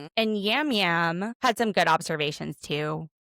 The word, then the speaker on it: Yam Yam: So she would know all of these people, but there was Natalie, Yam Yam, which they kept calling him Jam Jam. It's spelled Yam Yam.